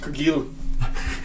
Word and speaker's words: Cargill: It's pronounced Cargill. Oh, it's French.